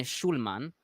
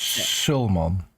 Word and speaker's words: Sulman: Is it a sh or is this a s? Staalduinen A s. Sulman. Yeah. Okay. So the other guy gave me a sh sound.